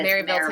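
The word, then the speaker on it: Maryville: want to come to is it marville Tennessee a very proper way to say marille Tennessee marville marille marille sorry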